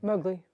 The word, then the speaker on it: Mowgli: Mowgli. Mowgli. It's his middle name, but he dropped my last name, so it's Mowgli, like in the Jungle Love Book.